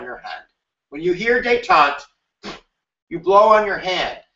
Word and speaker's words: détente: It's called détente. Is that how you pronounce it?